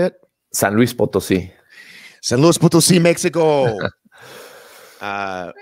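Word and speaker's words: San Luis Potosí: 2019 held at a nascar racetrack in uh san luis obisi how do you say it san luis potosi san luis potosi mexico uh what do you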